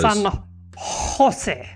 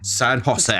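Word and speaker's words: San José: San Jose. San Jose. It's got to come from the throat. Thank you, Jotun. San Jose. San Jose. So... Well done on making Spanish sound French. San Jose.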